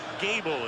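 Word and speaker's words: Goebel: in the clubhouse and Brad Gable is how it's pronounced a rookie free agent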